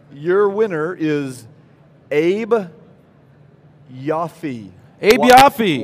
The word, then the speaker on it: Abe Yoffe: Abe Yoffe. Y-O-F-F-E. Is that how you say it? Absolutely.